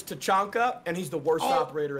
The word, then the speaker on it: Tachanka: So it's Tachanka, and he's the worst operator in the game.